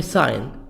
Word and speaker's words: sign: subway stop subway stop subway sign G silent subway sign traffic light